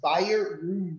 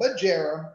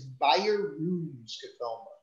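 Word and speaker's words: Bjerrum: five percent is right it is by your room skatoma so it's not jarrah it's not budgerum it is buyer roon so now you know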